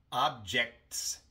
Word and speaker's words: objects: Pero cuando agregamos la S para hacer la palabra plural, no pronunciamos la T.